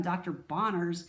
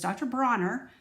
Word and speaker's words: Dr. Bronner's: I want to pronounce his name right. I think I called him Dr. Bonner's when I made my video on the bathroom. So it's Dr. Bronner.